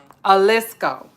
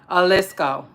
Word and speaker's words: Jalisco: Jalisco. I was saying Jalisco, but I wasn't far from it. Jalisco, right? Jalisco. Because there I think the J is like silent and whatnot, if I'm not mistaken.